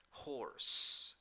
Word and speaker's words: horse: Number 3, 5 letters, 4 sounds. The last letter doesn't sound the vowel, and the pronunciation is horse, horse.